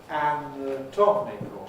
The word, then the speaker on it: anatomical: So the syllable stressed is going to be the tom, for ick, tomic. So that's going to have a strong vowel, tomical. We have a rule in